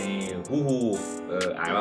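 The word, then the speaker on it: Who's Who: สาย ลับ นะ ครับ CP นะ ฮะ นี่ ฮู้ ฮ เออ อ่าน ว่า ฮู้ ฮู มา ใน ตีม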